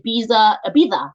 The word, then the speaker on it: Ibiza: If you know anyone in the Ibiza, you say it like that with a list.